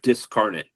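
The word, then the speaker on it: Dyscarnate: they spell it with a Y, but it's pronounced Discarnet and uh uh D Ys C A R N A T E, I think.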